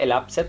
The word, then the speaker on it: elapsed: Se escribe elapsed, pero se pronuncia elapsed, como con una T al final.